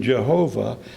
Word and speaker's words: Jehovah: Incidentally, that same European background is where we get the V in Jehovah instead of the original W.